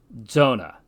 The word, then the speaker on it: zona: for King is Rees Z is really a combination of D and S and is always pronounced like DZ for instance the word which means belt is pronounced Zona Z is only used